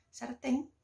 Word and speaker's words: sartén: Sartén, em espanhol, é uma palavra oxítona, que é justamente quando a sílaba tônica daquela palavra, ou seja, a sílaba mais forte, está na última sílaba. E temos algumas regras para acentuar ou não essas palavras. As oxítonas são acentuadas quando terminam em vogal, em S ou em N, que é o caso de sartén.